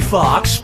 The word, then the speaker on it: Foxx: Jamie Foxx, Jamie Foxx, Jamie Foxx, or Jamie Foxx? Players 1, 2, and 3. Jamie Foxx's last name has 2 X's in it. The first X is silent.